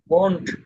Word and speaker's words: won't: Will, জি এটা স্যার, won't, এটা হলো want না, won't, won't, ওয়ান্ট won't, ওয়ান্ট want না, want না, ওয়ান্ট won't, ওয়ান্ট ওয়ান্ট ওয়ান্ট won't, হ্যাঁ won't।